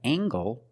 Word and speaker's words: angle: We have angle spelled L E making the nasal sound M and the hard G.